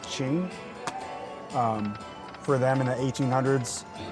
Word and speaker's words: Qing: I'm not sure how to pronounce it. It's Qing. I think it might be pronounced Qing.